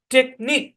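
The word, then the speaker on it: technique: ই তাহলে সম্পূর্ণ শব্দের উচ্চারণ হচ্ছে টেকনিক কি উচ্চারণ টেকনিক টেকনিক মানে কি টেকনিক মানে হচ্ছে কৌশল আর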